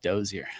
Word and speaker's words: Dozier: during for my wedding my grandfather um said doer and my dad um told me that my last name is French German which I never knew and so my grandfather pronounced it correctly but I've always heard doer but it's it is doer so that's hilarious dude